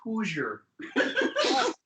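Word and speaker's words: Hozier: Canadian, I think it's pronounced Hoosier.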